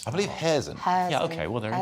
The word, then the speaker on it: Kherson: I always mispronounce that because when I hear them pronounce it on TV, it's not the way I pronounce it. I believe Kherson.